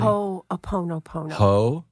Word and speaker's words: Ho'oponopono: Did I pronounce it correctly? Ho'oponopono.